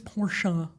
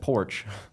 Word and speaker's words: Porsche: You know why people are like it's Porsche. If you have to be corrected of how to pronounce the name automatically disqualified from being an everyday car.